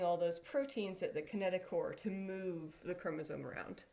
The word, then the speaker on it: kinetochore: proteins together the kinetochore it's spelled kinetochore but pronounced kinetochore this gives us a little indicator of what's